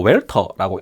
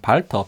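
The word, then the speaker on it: Walther: 메탈 슬라이드라는 제품, 발터 PPK W라고 해서 뭐 웰터라고 읽으시는 분도 있는데, 뭐 독일 발음, 영문 발음을 하면은 발터 PPK 제품입니다.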